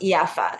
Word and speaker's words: Jaffa: in Palestine but it it's pronounced yafa Jaffa like the J is a y so yaffa is uh